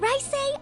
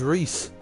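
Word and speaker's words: Reise: Alphen Rice Arner. It's Rice? I thought it was Reese. Huh, I've been pronouncing that wrong the entire time I'm playing this game.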